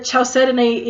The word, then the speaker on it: chalcedony: However, chalcedony is actually the correct pronunciation for it.